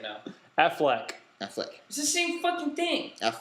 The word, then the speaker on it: Affleck: now flick I flex Ben Affleck I always said Aflac if there's one thing I missed about these well you always mispronounce it then if there's one